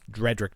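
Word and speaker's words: Drederick: So I detailed how my Dredrick Tatum, I said his name wrong in the original. Dredrick. You got it. You got it right that time.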